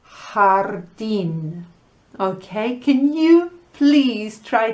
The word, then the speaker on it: jardín: You know, la letra J is pronounced H en español. So, garage is garaje and garden is jardín. Okay, can you please try to practice those two words? Garaje, jardín.